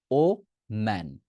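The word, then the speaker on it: woman: মানুষের সাথে কথা বলি সেটা হবে ও ম্যান ওম্যান কি বলবো ওম্যান ওম্যানের উচ্চারণ করেন আমি একজন মহিলার সাথে বা মেয়ের সাথে কথা বলছি সে কি হবে ওম্যান ও ম্যান ওম্যান ওম্যান ঠিক আছে অর্জিত ভাই বলছে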